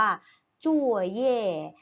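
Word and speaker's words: 作业: ปู่ ขวา นะ คะ คำ นี้ อ่าน ว่า จู่ เย้ จู่ เย้ ตัว ใหญ่ แปล ว่า การ บ้าน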